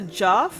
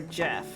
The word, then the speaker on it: Geoff: Is he the Geoff or Jeff? Like the O is silent.